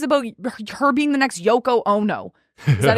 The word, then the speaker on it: Yoko Ono: there's already things about her being the next Yoko Ono is that how you say it yeah okay